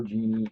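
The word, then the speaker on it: djinn: You got the air genie and the fire genie, right? The air one is what they call the genie, the D-Gen, or the D is silent, so just genie.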